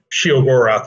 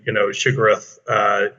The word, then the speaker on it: Sheogorath: Full name Theodore, and when we were kind of creating character names. She, Dor, Gorath. So Sheogorath was sort of how I pronounce it, but I've heard it's obviously has a kind of a Lovecraftian, Shigarath, aspect to it.